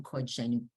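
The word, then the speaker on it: קָדְשֵׁנוּ: You see, like the bigger kamats under the kuf, that means you're going to say it like oh Kodshenu.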